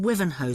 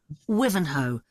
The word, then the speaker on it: Wivenhoe: The first one is in Wivenhoe Street. Sorry, where? Wivenhoe.